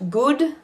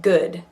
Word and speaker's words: good: have to memorize because it's not good like room it's good uh watch the kind